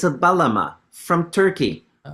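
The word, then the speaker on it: bağlama: It's a Balma from Turkey. Okay. Okay. It's spelled with a G, but I think the G is silent if if I remember my Turkish pronunciation.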